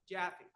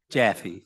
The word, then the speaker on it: Jaffy: I pronounced that correctly jaffy jaffy thank you rhymes with taffy uh I'm kale jaffy